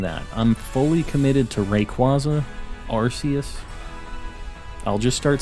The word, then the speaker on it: Rayquaza: in the future it's Rayquaza not Rayquaza I'm I'm saying Rayquaza I'll just let you know right now I'm also not changing that I'm fully committed to Rayquaza Arceus I'll just start